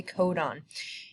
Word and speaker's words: codon: next lecture and it's a codon that is pronounced a codon and all that is is just three nucleotide